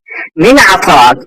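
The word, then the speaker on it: من أعطاك: মিন আতাক, তোমাকে কে দিয়েছে। এখানে আতাক, আতাক আ দিয়ে হবে না, আইন দিয়ে।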